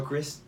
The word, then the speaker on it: Christ: Carol Chris. I find I in your last name. I think it's pronounced Christ, but I feel like for political reasons she says it Chris.